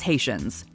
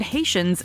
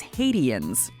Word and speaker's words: Haitians: about immigration policy Sher pronounced the word Haitians as hadan so okay like right